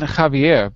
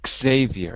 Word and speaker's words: Xavier: By the way, not Javier, but Xavier in English.